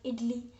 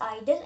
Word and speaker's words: idle: पता होगा, IDLI, because most of the people pronounce it एज इडली, because IDLE, इडली, because ई है ना लास्ट में. बट IDLI होता तो हम इडली प्रोनाउंस करेंगे. This is आइडल and this word is also pronounced as आइडल.